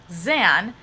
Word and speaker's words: Xan: Three Musketeers but also zan having that ex but still being pronounced zan to my mind when